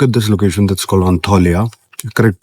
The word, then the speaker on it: Antalya: सो अगर आप टर्की आने का प्लान कर रहे हो, so look at this location, that's called अंताल्या, correct pronunciation इसकी है।